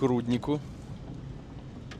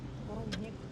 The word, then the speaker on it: рудник: глаза Мы подъезжаем к руднику на у ударение рудник рудник шахтёрский посёлок тот самый